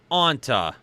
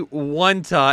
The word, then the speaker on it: Ontha: It's a one-word name, Ontha, but sound kind of like Onta. All my money going to my name this week, Kyle. Kyle called me Wanta at first, and at the end he said it right.